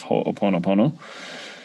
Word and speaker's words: Hoʻoponopono: a little bit more about the history of ho oponopono um it is uh and and it is pronounced it's it's a little tricky but um it's ho o po no po no so together ho oponopono um a little tricky